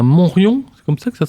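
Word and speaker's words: Montriond: Pour revenir à votre parcours, Claude Gaillard, vous venez de le rappeler, vous êtes savoyard, vous êtes né à Montrion, c'est comme ça que ça se prononce ?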